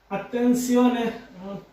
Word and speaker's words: attenzione: তো আমরা তো সাধারণত জানি যেটা এর উচ্চারণ জয়ের মতো হয়, যেটার উচ্চারণ জয়ের মতো হয়, কিন্তু এখানে পূর্বে যে একটি ব্যতিক্রম নিয়ম শিখিয়েছিলাম যেটা ই ও এন এ, এটা হয়ে যাবে সিওনে।